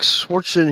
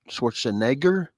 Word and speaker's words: Schwarzenegger: Yeah, like swatching. He says swatching. I'm going to say it right. Schwarzenegger.